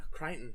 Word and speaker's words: Crichton: his name right well no Crichton it's Crichton its Crichton but it sort of looks a bit like a lot of those weird names it isn't said how its spell yeah so math